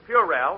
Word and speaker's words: puerile: You've been pronouncing them words all wrong. What do you mean? Well, I found out in night school that the correct pronunciation is puerile and banal.